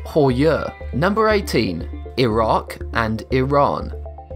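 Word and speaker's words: Heuer: That said, the majority of folks cannot pronounce the name correctly, pronouncing it tag who air largely because it is a Deutsch or German name, not an English one. See the issue here? People are trying to pronounce a Deutsch name like an English name, which is outrageous. The correct pronunciation is tag Hoyer.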